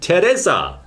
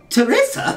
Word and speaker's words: Teresa: the name over there it is in fact Teresa Teresa Teresa for Buu Teresa Buu is actually Teresa I don't know why that is it's such a strange name but perhaps the chaps over here said well Teresa doesn't really fit or Teresa doesn't really fit